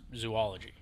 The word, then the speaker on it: zoology: It's zo because it comes from the Greek word for zoa, animal. Yeah, it's totally zo. It's not zoo. Because if you pronounce it zoo, it'd just be zoology.